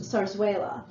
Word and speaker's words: zarzuela: This style of theater is a holdover from the days of Spanish colonization, pronounced zarzuela.